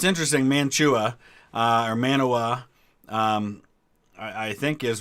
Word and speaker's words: Mantua: We pronounce it Manaway. I know it doesn't look like that, but that's what we call it, is Manaway.